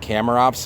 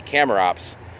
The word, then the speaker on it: Chamaerops: rifra which is the blue variety and I shamrock should actually be pronounced camera ops I just don't do it out of just